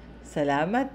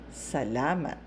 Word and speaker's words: salamat: thank you Salama Salama salamat is the simplest way to say thank you okay salamat salamat maraming Salama marami